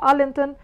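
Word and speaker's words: Arlington: هنا في زيه tomb of unknown soldier الجندي المجهول، مقبرة الجندي المجهول دي موجودة في أرلينتون، الجي سايلنت زي واشنطن بالظبط.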